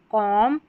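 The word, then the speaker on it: comb: आखिर में आता है म पढ़ते हैं क्योंकि बी साइलेंट है। तो यहां पर देखिए लैंप, कॉम बॉम, तम। यहां पर आखिर में जो बी है, यह पढ़ा नहीं जाता। लिखा जाएगा स्पेलिंग में लेकिन पढ़ा नहीं जाएगा क्योंकि बी साइलेंट है।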